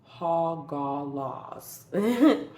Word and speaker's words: Hagalaz: All right, so the first one out is Hagalaz, which really, or I think I'm saying that right. It could be Hagalaz. Hold on, let me see. It is Hogalaws. Hogalaws. So I think I said it right the first time.